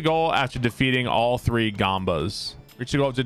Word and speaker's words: Goomba: as soon as the tutorial is done it's pronounced Goomba okay so you can only have one wind